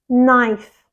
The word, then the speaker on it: knife: the correct pronunciation is knife knife it has only one syllable but that K often confuses students and I hear knife or KN all the time but it's not the K is silent it's knife knife for